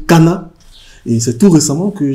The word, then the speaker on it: Kana: Je que je suis bass et mon nom se prononce Kana et non Kanaa.